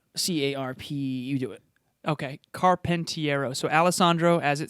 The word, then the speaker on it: Carpentiero: carpentiero carpentiero pronounced his name yeah i can spell it if you want me to but c-a-r-p you do it okay carpentiero so alessandro as it sounds period carpentiero c-a-r-p-e-n-t-i